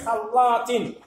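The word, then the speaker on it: خلّاطة: Kha, harf kha. Normalement, il s'écrit comme ça, maintenant c'est khal avec l'âme et alif. Allah. En plus du dédoublement, harf muda'af, l'âme muda'af, on appuie dessus, khallat.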